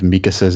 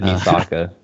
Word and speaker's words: Mikasa: I said Misaka. I had the S and the K backwards. Misaka. Mikasa Sukasa. Right? What'd you say? It's officially Mikasa, right?